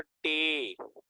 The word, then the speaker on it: टे: 7 है हमें पर टे, इसको हम पढ़ेंगे सिंधी प्रोनाउंसिएशन के तहत टे, ठीक है जी।